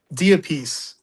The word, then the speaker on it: DiApice: Whatever way I can pronounce it. DiApice.